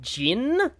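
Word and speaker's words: Zin: So, I think it's actually meant to be pronounced more like Jin and they are correct about that in the Calvar games, but not here, weirdly.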